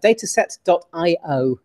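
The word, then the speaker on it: Datasette: um no it's a dataset.i is the place to go it's data it's spelt like the word cassette but with a d on the beginning it's actually the the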